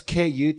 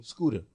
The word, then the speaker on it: Skuta: It's Skuta. Skuta. Scuda. And then the T is usually pronounced with a D for some reason. Scuda.